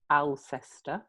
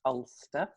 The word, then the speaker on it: Alcester: So I'm in a town called, it's spelt Alcester, Alcester, but locally pronounced Ulster.